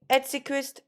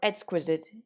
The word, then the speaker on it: exquisite: are you yeah it's ed sickest or exquisite yeah just there's two ways of pronouncing it I think there's free